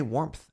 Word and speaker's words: warmth: Did you just say warmth? Yeah, that's how I pronounce that word. Do you say warm? Warmth? Warmth. It's subtle, but there's a P in warmth.